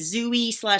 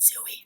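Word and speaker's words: Zooey: book um Franny and zooie Zoey however you want to pronounce it I want to pronounce it zoie everyone starts saying zooie let's spread it around like wildfire is it bad when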